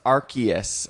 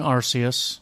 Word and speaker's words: Arceus: that came from nothingness and archus pronounced archus although there were originally three different pronunciations officially including arus arus was they officially said